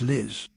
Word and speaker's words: Lies: Lies is pronounced Liz.